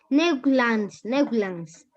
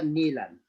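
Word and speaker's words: Newlands: Neuglans. Sí, seguro. Neuglans. ¿Está bien? Neuglans. Neuglans, la B. La B, profe. La B. Ya, Ajá. ya. Se pronuncia Nilantz. Ya, profe, ahora sí, vamos a empezar.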